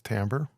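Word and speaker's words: timbre: learn about Tambor timber you could pronounce this timber but and maybe someone would think the tree is gonna following you or something so probably best to use Tambor so what it is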